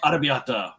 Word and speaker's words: arrabbiata: Arrabbiata. It was angry red. Angry red. That's what it means. How do you say it? Arrabbiata. Arrabbiata. It's like arrabbiata. Like the roll the R a little bit.